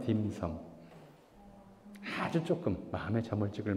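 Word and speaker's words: 點心: 한자 중국식 발음으로 홍콩 발음으로 하면 딤섬.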